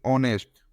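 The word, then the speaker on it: honest: लगा है आप देखते ऑनेस्ट ऑनेस्ट और और एम है अब इसका जो यह पहला letter H H consonant consonant है बाकी वो साइलेंट होने के कारण इसका साउंड आ रहा है ओ का तो यहां पर इसका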